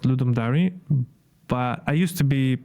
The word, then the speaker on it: Ludum Dare: Um, but it's actually actually pronounced Ludum diary, but I used to be I used to pronounce it Ludum Dari back in the day, but then I kind